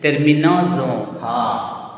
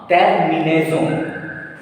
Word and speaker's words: terminaison: And S is placed between two vowels. So S will be pronounced Z.